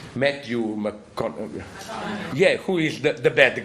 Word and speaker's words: Matthew McConaughey: So here it's Idris Elba, of course, who is the good gunfighter, and it's the, how do you pronounce the name? Matthew McConaughey.